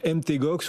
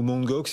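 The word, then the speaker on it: Mt. Gox: Donc MTGOX ou Mangox, il y a deux façons de le prononcer.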